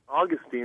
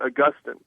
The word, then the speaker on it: Augustine: Some people would pronounce his name Augustine, and some people would say it Augustine.